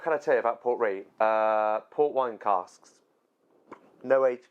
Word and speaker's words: Ruighe: Rouge. Port Rouge. No, it's not. Don't lie to me. Port Ruighe. Port Ruighe. That's how you pronounce it.